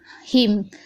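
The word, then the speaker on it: hymn: से पहले एम है तो यहाँ पर एन साइलेंट है, यानी ना हम नहीं पढ़ रहे। और एन से पहले एम है, यहाँ पर भी हम ना नहीं पढ़े, यानी खाली हिम पढ़ा है हमने। तो एन को साइलेंट रखा है, यानी एन को नहीं पढ़ा है।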